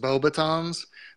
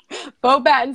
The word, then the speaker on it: Beauxbatons: you I believe it's probably supposed to be pronounced boba tomes but in the movie they very clearly say both patents so I said right the first time beauxbatons academy the Goblet unexpectedly